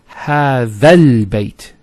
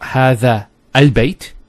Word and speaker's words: هذا البيت: It's هذا البيت. So it's not هذا البيت. You don't pronounce this hamzat al-wasl here. So you go from this alif to this lam.